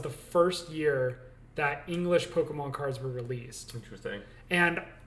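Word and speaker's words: Pokémon: monsters yeah but in the in the japanese pronunciation it's pokemon yes yeah so and even but i still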